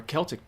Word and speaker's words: Celtic: Or Celtic peoples, again with the K, were a collection of